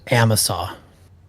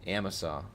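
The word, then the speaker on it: Amasa: So, it's pronounced Amisaw. Amisaw. Got it. Amos. Amisaw.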